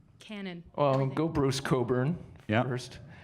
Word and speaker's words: Cockburn: It's a silent CK. Anyways, that's a little, inside story for new Canadians. It's Cockburn.